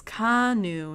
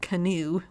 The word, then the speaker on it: Kanu: Oh, it's Canu, not Canoe like I thought it was.